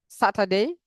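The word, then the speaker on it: Saturday: স্যাটারডে, স্যাটারডে, স্যাটারডে আর স্যাটারডে, স্যা অথবা সা, দুইটা সঠিক।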